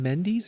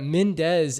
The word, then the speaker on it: Mendes: correcting you because yet Mendes as a that's more of like a Spanish pronunciation of those letters together in that order and I don't know if the British pronunciation is more like Mindy's but I don't know